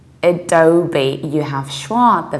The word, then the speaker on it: Adobe: not a phoner sake language so simply you pronounce things usually differently don't the spelling would suggest so we say Adobe Adobe you have swore at the very beginning oh